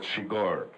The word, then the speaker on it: Chigurh: I just asked him what was the right pronunciation of my character's name, which is quite weird, and he said Chigurh.